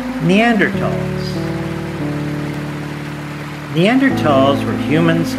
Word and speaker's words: Neanderthals: neanderthals neanderthals were humans like us but they were a distinct species called homo neanderthalensis the th is pronounced as ta both fossil and genetic